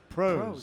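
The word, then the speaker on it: Proes: How do you spell that? P-R-O-E-S. Pros.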